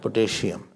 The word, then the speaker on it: potassium: Potassium, not potassium. It's potassium.